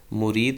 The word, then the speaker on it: مُرِید: ادا کرنا چاہیے تو اس کو مرید میم کی پیش کے ساتھ ادا کرنا چاہیے، جس کا معنی ہوتا